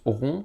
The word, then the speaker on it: rond: rond h donc là ça se prononce rond ce petit signe gérant h en vrai